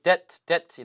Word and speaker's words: debt: D-E-D-T지만 사실 B는 발음이 안 되고 debt 이렇게 발음이 되죠.